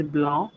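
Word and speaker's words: blanc: For example the word for white is blah. Again the consonant is silent at the end.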